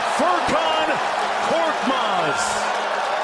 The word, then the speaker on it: Furkan Korkmaz: Furkan Korkmaz is how you say it.